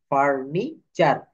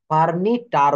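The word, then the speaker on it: furniture: ইউ আর ফার্নিচার structure তো এখানে টি এর পর ইউ থাকলে এই এর উচ্চারণ চ এর মত হবে ফার্নিটার বলা যাবে না সেন্টরি বলা যাবে না বলতে হবে সেঞ্চুরি লেকচার অর্থাৎ টি এর পর ইউ থাকলে টি এর উচ্চারণ চ এর মত হয়ে যাবে এই যে টার হওয়ার কথা লেকটার সেঞ্চুরি বাট এটা হবে চ লেকচার সেঞ্চুরি ফার্নিচার স্ট্রাকচার এটুক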